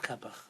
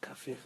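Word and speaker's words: Qafih: So he sent me the writings of Rabbi Yosef Kapach, Rabbi Yosef Kafich, depending on how you pronounce his name.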